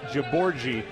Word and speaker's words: Jaborgi: Now, if you look at number 10, look at his how his last name is spelled, and it's pronounced Jaborgi.